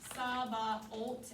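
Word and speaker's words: Sabaoth: at the end right i want you to mark that h out just scribble it out because i don't want it to confuse you when we only want saba alt and make that t sound at the end so scratch that h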